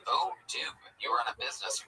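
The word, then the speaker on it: Odoo: First off, it's pronounced O Doo.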